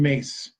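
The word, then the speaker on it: Myss: mace my SS Carolyn mace it's pronounced mace but it's spelled like Miss my SS she does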